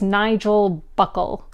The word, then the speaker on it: Nigel Buckle: i got the name oh sorry i got the name wrong it's nigel buckle nigel buckle so nigel